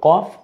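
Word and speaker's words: ك: থেকে বফলা দিয়ে দেখিয়েছি আর এটা পাতলা আওয়াজে কাফ জিহ্বার গোড়ার আরেকটু উপরি ভাগ থেকে উচ্চারিত হয় পাতলা আওয়াজে কাফ কফ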